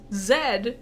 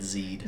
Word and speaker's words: zed: he uses Zed and rhymes it with head. So as a kid who didn't know this, You said Z'd. Z rhyme with head, and I'm like, that's a shit-ass fucking rhyme, Jam Jars. Yeah, it's that name, Zed. Yeah. Z-E-D. Mm-hmm. Zed is dead, right? There's a rhyme there.